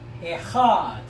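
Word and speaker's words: אחד: But as you look at the number here, the Hebrew word pronunciation is echad.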